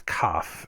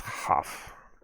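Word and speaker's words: כ: If it has a dot in it, I think it said if it has a dot in it, you pronounce it as KAF. If it does not have a dot in it, it's HAF.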